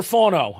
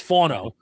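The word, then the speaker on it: Fano: Uh, up next is Spencer Fono. And I'm using this based on Dane Buger and the Beast. It's not FO, it's Fono.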